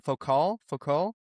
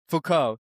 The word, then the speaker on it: Foucault: I don't know how to pronounce it. I've only seen it written down. Foucault. Foucault.